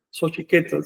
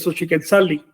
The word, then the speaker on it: Xochiquetzal: Si le pones sufijo li, entonces es Xochiquetzali, pero siempre manteniendo el término llano. Es decir, pronunciación en la penúltima sílaba siempre, con independencia de que le pongas o no el sufijo.